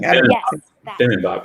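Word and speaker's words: 비빔밥: Oh, bimbap or something? Bibimbap, yeah.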